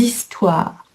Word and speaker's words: histoires: Et les histoires, c'est un H muet, donc on fait la liaison. Les histoires.